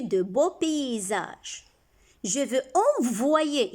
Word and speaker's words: envoyer: Je veux envoyer, ici c'est comme si on a un I avant Y, on a dit Y se lit deux fois. Une fois avec chaque syllabe.